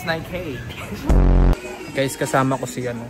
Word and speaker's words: Nike: lagi naming pinagawaan ni peng yung ano yung pronunciation nito ng ng Nike ng Nike. Ano bang tama? Nike o Nike? It's Nike.